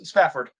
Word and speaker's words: Spafford: Spafford. Yes, Spafford.